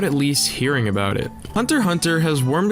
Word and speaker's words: Hunter x Hunter: shonen jump manga series hunter x hunter pronounced hunter hunter by yoshihiro togashi is